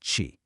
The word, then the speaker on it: qi: And by the way, it's pronounced qi.